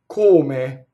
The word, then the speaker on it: come: adore na rolled R kome is the next word coma coma v tema now coma is a closed though and a closed e notice that this word is two syllable word and it doubles the